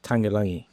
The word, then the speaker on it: Tagelagi: The last name is pronounced Tagelagi.